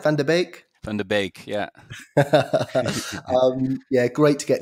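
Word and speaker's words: Van de Beek: Van der Beek, yeah.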